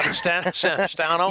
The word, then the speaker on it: Savastano: And we have a new intern this year on the camera, CJ Savastano. I think I pronounced that right. Yeah. Savastano.